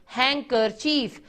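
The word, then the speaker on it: handkerchief: हैंकर, चीफ। पहले भी बताया था मैंने पढ़ाते हुए कि डी इसमें साइलेंट होता है, इसकी आवाज नहीं आती।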